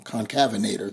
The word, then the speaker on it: concavenator: is a con uh I said it wrong again it's I'm always going to get it wrong concavenator there you go I got it